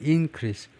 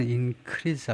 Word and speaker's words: increase: 우선은 명사와 동사는 어떻게 구별하냐면 발음으로 소리로 구별합니다. 명사는 increase 하고 동사는 increase 하고요. 두 번째 실레벌에 액센트를 두고 소리로 구별을 하고요.